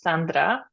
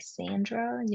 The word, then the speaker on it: Sandra: So in Poland, it's pronounced Sandra with like a rolling R, but in America, I don't really like feel the difference.